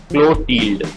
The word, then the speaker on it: Clotilde: letter to Bertie and it's actual pronunciation is Klo-teeld now let's start our